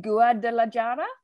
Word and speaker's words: Guadalajara: I will try and pronounce it. You can laugh at my terrible accent. I apologize. Is it Guadalajara?